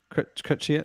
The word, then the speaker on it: Chrétien: Chrétien.